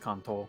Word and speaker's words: Kanto: it kanto or kanto and actual japan it's pronounced contol ah um like in pro and off in